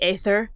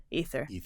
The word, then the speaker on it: aether: And so we still see it in words like ether, or people want to pronounce it into the aether, but it's actually just ether.